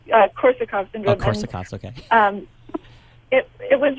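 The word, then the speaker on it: Korsakoff syndrome: And how does, I think it's pronounced, Korsakov's syndrome, it's a form of retrograde amnesia, play into the role of the movie? It's called Korsakov syndrome.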